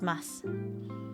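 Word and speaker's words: ます: In everyday spoken Japanese, the final u and words containing m is silent and the word is pronounced as mas.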